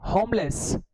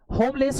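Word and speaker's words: homeless: question क्या था एन होमलेस होमलेस होता है बेटा होमलेस अब h को तो हम बोल रहे हैं ना h का साउंड आ रहा है ना होमलेस तो यहां पर h का साउंड है तो n तो नहीं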